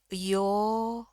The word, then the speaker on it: your: Nah, ini sama sebelah depannya iya, tapi di sini R-nya hilang. R-nya hilang kenapa? Karena bunyi selanjutnya itu wah. Ya, bunyi huruf mati ini hitungannya konsonan atau consonant ya di bahasa Inggris. Jadi yo ya, R yang jangan dibunyiin sama sekali. Yo, panjangin aja.